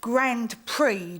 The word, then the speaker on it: Grand Prix: You do realise it's pronounced Grand Prix, don't you?